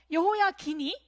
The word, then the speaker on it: 여호야긴: 여호야김. 19대는 여호야긴. 발음에 주의를 해야 돼요. 사람이 바뀔 수가 있습니다. 그의 아버지는 여호야김이었고 여호야김이 죽자 그의 아들에게로 왕위가 넘어가는데요. 여호야긴이 바로 19대 왕이 됩니다.